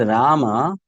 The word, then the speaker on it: Rama: If you look at the word rama again, it has two syllables. Ra ma.